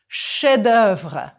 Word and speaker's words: chef-d'œuvre: And a masterpiece, un chef-d'œuvre. Prononcez, s'il vous plaît. And remember the old technique of drawing a line through an unpronounced letter? Chef-d'œuvre.